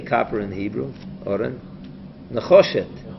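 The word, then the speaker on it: נחושת: Nechoshet. Necheshes.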